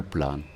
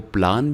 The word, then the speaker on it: plan: था, जो बिल्ली का, इसको प्लान भी कहते हैं और प्लेन भी कहते हैं, आप दोनों इसको कह सकते हैं।